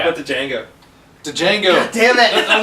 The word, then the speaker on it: Django: To Django, the D is silent.